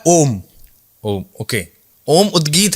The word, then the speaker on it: ओम: कर रहे हैं ओम ओम का उच्चारण एक अलग उच्चारण है प्राणायाम में उदगी में जब आप ओम की ध्वनि को निकालते हैं तो वो ओम नहीं है वो तीन ध्वनियां है अ उ और म तो आपको जैसा वो